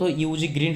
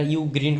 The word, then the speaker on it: UGREEN: এটা মূলত ইউজি গ্রিন হবে না। এটা ইউ গ্রিন হবে।